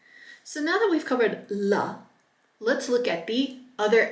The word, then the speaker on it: ല: to start with the LA La this is very similar to the English la it's a very common l sound and it is pronounced La your tongue is there behind your teeth la la let's pronounce